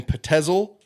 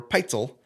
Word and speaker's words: Pitezel: where he meets so there's controversy on the pronunciation of the last name it's either benjamin pitezel or Petzl it's spelled out as if it would be Patel but I heard more pronounced at pencil I'm gonna go with